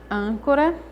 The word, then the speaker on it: âncora: Âncora, a sílaba tônica é an. Eu falo âncora.